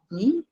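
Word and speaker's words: 你: Então, primeiro eu já ouvi alguém falando, ó, ni how ni. Isso, ó. Vocês estão vendo que é terceiro tom, terceiro tom.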